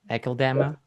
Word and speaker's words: Akeldama: The Faceless and the having problem with pronouncing the name of the album, AKELDAMA. AKELDAMA.